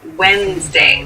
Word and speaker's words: Wednesday: January 1st Wednesday so Wednesday is the middle day of the week but keep in mind this is pronounced Wednesday There's a d there but we don't say the fourth day of